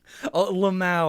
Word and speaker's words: LMAO: one as a word lemao i think is also a generally accepted pronunciation for that um but uh yeah